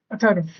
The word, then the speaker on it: Atharv: Spelling is like you are asking about a spelling, but the last is silent, right? Atharv. My name is Atharv.